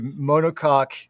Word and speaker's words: monocoque: It's monocoque. Monocoque. And you misspell it, by the way, Ken. I put mono and COCK. It actually comes from a French word.